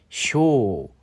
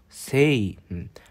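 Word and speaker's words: 生: 것이 가장 포인트라고 하겠습니다 쇼 세이 세이는 새라고 자동으로 읽기도 하죠 쇼 혹은 세라고 읽고 태어나다 살다 그런 뜻인데이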